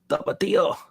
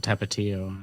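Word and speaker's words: Tapatío: Tapatio, which I call that Tapatio for years, for some reason. Maybe it is, and I just call it Tapatio. No, it's Tapatio.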